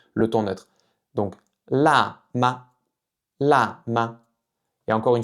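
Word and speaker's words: 吗: question la ma, la ma. Donc ça veut dire est-ce que c'est épicé? La ma, la ma. Le dernier caractère de cette petite phrase se prononce avec le ton neutre.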